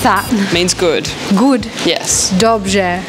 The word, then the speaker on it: Dobrze: Dobrze. What's that? Means good. Good? Yes. Dobrze.